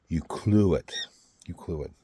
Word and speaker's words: Ucluelet: Ucluelet.